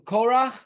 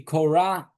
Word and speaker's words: Korach: It's in English they don't really have a way of saying this pronunciation of. So it would either be Korah or I'm not sure how they. Korach. Or something like that.